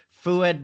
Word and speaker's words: Foued: How do you fed foued? Sorry. Foued. You say it like it is.